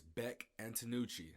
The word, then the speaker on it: Bek Antonucci: Today's guest is Bek Antonucci.